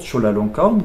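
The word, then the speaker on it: จุฬาลงกรณ์: On va avoir la même chose, par exemple, avec le roi Chulalongkorn, qu'on prononce toujours Chulalongkorn, qui s'écrit toujours Chulalongkorn avec ORN, qui était l'arrière-grand-père du roi actuel, Ramadis, qui lui s'appelle Vajiralongkorn, et sa sœur Sirindorn.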